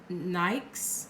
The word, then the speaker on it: Nyx: domain of the Greek goddess nights NYX is how it's spelled she she shows you